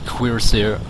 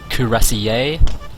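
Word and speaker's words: cuirassier: Hustle and Kur kurir now if you have an issue with the pronunciation of that kurir it's actually quir or something similar and a lot of people think it's cassier I suggest those people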